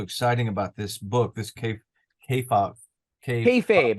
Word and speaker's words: kayfabe: about this book, this kayfabe. Kayfabe. It rhymes with hey Kayfabe. babe.